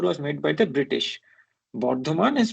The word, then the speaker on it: Bardhaman: Bardhaman is Bardhaman, not Burdwan.